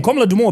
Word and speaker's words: Komla Dumor: Komla Dumor, BBC journalist. Yeah, no, I'm the saying. late. I'm just saying the way you're pronouncing it.